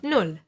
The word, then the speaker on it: Null: A double consonant, like here, the double L, will mean that the word will get pronounced a little bit faster. Like here in Null, for example, or der Ball, or Essen. And watch the U. It will always be pronounced like U, like in put or boot.